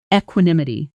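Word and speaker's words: equanimity: Pronunciation eqimi t equinimity.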